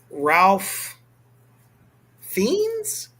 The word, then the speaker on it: Ralph Fiennes: Ralph Fiennes? Is that how you say it? Well, see, now the thing is, it's Ralph. I've always heard it was Fiennes. Okay, let's go with Ralph Fiennes. Fiennes. I feel better about Fiennes.